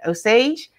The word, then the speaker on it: Osage: that osage county crochet i said it right osage that say the right o sage county crochet